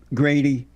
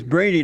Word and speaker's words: Brady: feel about black conservative Grady Brady Brady yeah brainy oh they have a G here for some reason its Brady not okay yeah they spelled